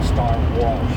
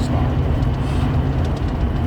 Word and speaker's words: Star Wars: unfortunate garage issues and I used to say star Walsh instead of Star Wars. All right. It took me years for me to learn to say it properly because this is not